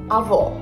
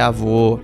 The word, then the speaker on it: avô: Avó. Avó. Ah, não, ela falou avó, mas é avô.